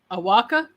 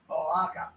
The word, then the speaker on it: Oaxaca: It is Awaka. Is that how you pronounce it, Piggy? Oaxaca.